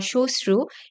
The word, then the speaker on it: শ্মশ্রু: আবার শ্মশান বা শ্মশ্রু, এখানে ম ফলা আছে শব্দের শুরুতে এবং সেখানে ম ফলার উচ্চারণ একেবারেই হচ্ছে না এবং কোনো দ্বিত্ব উচ্চারণও হচ্ছে না।